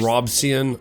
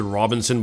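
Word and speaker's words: Robison: A man by the name of John Robson, I don't know, look how it's spelled right here. I want to pronounce it Robinson, but it's not, it's Robson.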